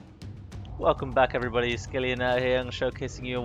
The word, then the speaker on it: CLAyala: I'm told it's pronounced CLAyala, although I used to pronounce it CLA back in the day when I did that tournament co-casting with Excalibur.